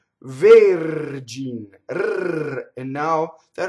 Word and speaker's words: Vergin: So going back to the first word, the R touches a consonant. And that's all it takes. Vergin.